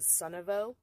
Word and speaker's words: Sunavo: I believe you pronounce it Sunavo, S-U-N-A-V-O. So I will put all the